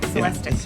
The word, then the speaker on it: Celestiq: Yeah, Celestic.